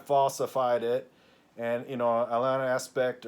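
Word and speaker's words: Alain Aspect: it and you know Alan aspect or Alain Espe or as is so to be correctly pronounced his name in France is uh is like well yeah Belle's inequality is is demonstrated did.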